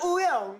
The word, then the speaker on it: Wooyoung: I'm Wooyoung.